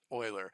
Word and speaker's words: Euler: at 48 so um leonhard euler is swiss and that's how you would pronounce it in swiss so it's actually euler and so we'll hear